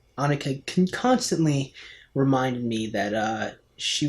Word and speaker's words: Annika: I pronounced it as Annika, but it's actually Annika.